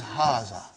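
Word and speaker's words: هٰذَا: am going to see it is pronounced like haga but this alif is not written it is explained in the key also so it is haazah okay haazah means this and means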